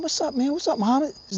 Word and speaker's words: Muhammad: What's up, Muhammad? His name was Muhammad. It's not Mohammed, it's Muhammad.